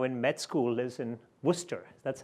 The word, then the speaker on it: Worcester: wife who's now in med school is in Worcester that's how he said it right Worcester by the way she yeah is your wife